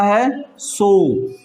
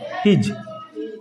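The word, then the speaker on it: his: क्या पढ़ेंगे, हिज, क्योंकि एस से ज उच्चारण भी होता है नी। यहाँ पर ये फिलहाल क्या है, ही और ज, हिज, क्या है, हिज।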